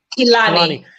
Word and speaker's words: Kilani: Is it Kilani or Kilani? Yeah, Kilani.